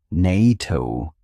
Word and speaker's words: NATO: NATO is pronounced as a word. Nito starting with a consonant sound.